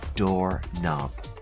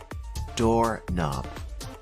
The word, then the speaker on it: knob: door handle is a door knob repeat after me door knob the K is silent also to be found